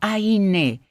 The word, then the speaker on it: Ayn: debe ser está diciendo mi nombre se pronuncia aine es una pronunciación larga Ay ay quién es